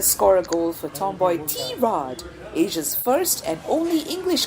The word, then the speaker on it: Tirade: a goal for tomboy T Rod Asia's first and only English comedy chat podcast and mind you it's pronounced t- Rod not Tade or Tade or however else you want to call it yeah and we